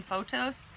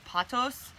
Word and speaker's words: pothos: editing some videos that i'm always saying photos and i think most people pronounce it patos um so if you hear me say it wrong which you probably will